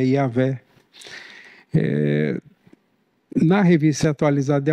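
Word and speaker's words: Yahweh: o nome de Deus cuja pronúncia provável é yahvé eh na revista atualiz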